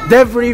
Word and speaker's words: debris: Debris, very good.